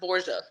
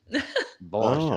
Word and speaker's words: Borga: my say last it name is supposed to be pronounced Borga. Borga. Like Borga, the Borgias is like that's my very that proper.